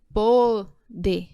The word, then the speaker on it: pode: Poder. Olha só, tem um acento, tá? Observem que até a pronúncia é diferente. Aqui em cima você pronuncia mais aberto. Pode. Aqui embaixo, pode. Fechadinho.